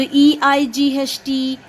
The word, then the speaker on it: eight: a and this and here again the g is silent so e i g h t a eight eight eight say loudly